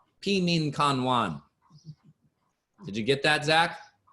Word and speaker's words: Pi Min Kan Wan: So Pi Min Kan Wan is the Chinese herbal formula for allergies. It's spelled P-E-M-I-N K-A-N-W-A-N if you're interested.